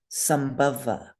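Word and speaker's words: saṃbhava: You would not change that M to an N of any kind because the B, sambhava, the consonant that follows the M, is a fifth Varga consonant, so the M stays M.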